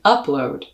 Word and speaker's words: upload: those first two syllables in upload you're going to stress the first syllable which is an uh vowel the same as in